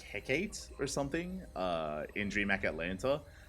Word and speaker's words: Hecate: Yeah, I think I know that a bunch of casters were pronouncing Hecate differently, and they finally come around to Hecate because that's what we've been saying from the beginning, because it's a Greek word.